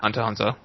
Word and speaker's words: Hunter x Hunter: Hunter x Hunter does not deserve that, and by the way, we should not pronounce the X. Okay, Hunter x Hunter.